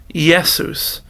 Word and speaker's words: Jesus: Latin it appears and but it still has much the same sound as the letter I but it has a kind of a yes sound so we've learned the word Jesus yesus yesus and so the easiest